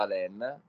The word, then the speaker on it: Alain: Quindi io, co come lei, tutti mi chiamano Alan, ma il mio nome si pronuncia Alain.